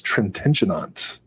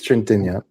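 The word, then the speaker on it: Trintignant: Oh, co-starring Jean Louise Trentenant. Wait, I think it's Trenta, but I could do that. Trent. I always add a syllable.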